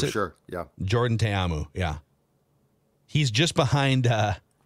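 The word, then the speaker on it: Jordan Ta'amu: Defenders QB uh it's is it Jordan tayamu I believe is how you pronounce it sure yeah Jordan TAMU yeah he's just behind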